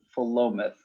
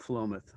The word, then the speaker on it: Philomath: it's just south corvallis philomath just south of corvallis follow myth and they say massachusetts words are hard to pronounce it probably in the original greek was philomath i don't know but it's the locals called phlomoth ah okay yep uh